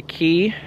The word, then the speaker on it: Cay: Disney's islands called castaway key it's looks like Castaway Cay but they pronounced it key I think that's it